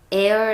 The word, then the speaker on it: err: 즉 오류 라는 뜻이고요 에어 라고 하며 는 동사로 약간 오류로 번 하다 라는 뜻이에요 10대 이걸 어 이러고 만 적혀 있을 때는 발음을 어떻게 하는지요 아예 잘 모르 모르고 이렇게 인 트 위트 바지가 않는데 그냥 우리가 알고 있는 단어인 공기를 얘기할 때 어 라고 하잖아요 그거랑 발음이 똑같다고 생각을 하시면 되요 그래서 있는 방법은 엔드